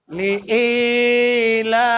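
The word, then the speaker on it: لإيلاف: লি ইলাফি লিলাফি লি ইলাফি ভুল হইছে লি ইলাফি লিলাফি কফ এর উপরে পেশ র উপরে জবর ইয়ার উপরে জজম ভাই কুলাই কুলাই জবরের বাম পাশে জজমালাইয়া কিসের হরফ?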